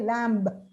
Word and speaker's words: lamb: to pronounce themselves lamb but actually the letter b is absolutely silent it's too bow curl and lamb may we had a little lamb you say lamb it's also father mother